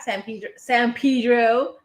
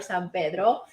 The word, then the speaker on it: San Pedro: San Pedro, if you say it like that, or San Pedro.